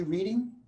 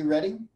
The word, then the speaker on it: Reading: Y'all might heard of Pearson B. Reading or Pearson B. Redding. Reading is how he pronounced his name.